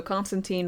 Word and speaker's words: Constantine: chain smoking scouser also Constantine rhymes with design like Valentine Constantine